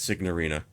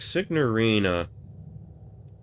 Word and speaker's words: signorina: Okay, we don't pronounce the N in the actual Italian.